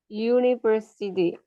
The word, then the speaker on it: university: University University. You say university. you You. You ya. uh-huh. You berarti ya Miss uni Tapi bacanya university pakai Y. Bacanya pakai why university. Pakai kata konsonan. Y.